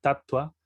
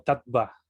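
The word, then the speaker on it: tattva: de U, por ejemplo, como la palabra tatua, no se pronuncia tal cual como tatva, ¿no? Si lo pronunciaríamos así como se lee en español, pronunciaríamos así tatva, pero no se pronuncia así, sino que la B se pronuncia con un ligero tono de U, tatua, ¿no?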